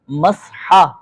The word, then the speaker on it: مسح: پاک سلامت رکھے۔ اب مسا آ گیا سب کو ماشاءاللہ۔ اس کا صحیح ہم بولتے نا مسا، مسا مسا نہیں ہوتا، مسحا، ہاں مسحا، ہاں صحیح ہے، صحیح تلفظ اس کا مسحا کرنا ہے۔ اب اس کے بعد